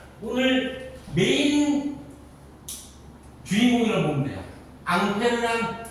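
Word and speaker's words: Ampère: 앙페르란 사람 이름입니다. 앙페르 교수님의 이름을 따가지고 암페어라고 읽어요.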